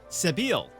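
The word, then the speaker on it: Sebille: not quite certain you'll ever sleep soundly with seville in any sort of proximity but at least she's on your side for the moment sabile all right we learned how to properly pronounce the name level up there we go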